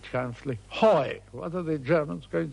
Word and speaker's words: Huy: and then he stuck H-U-Y, and just couldn't pronounce she. So after a moment's hesitation, he said triumphantly, hoi, what are the Germans going to do at hoi?